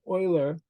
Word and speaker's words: Euler: is called the Euler it's spelled like this but it's pronounced o-i-l-e-r Euler B this is the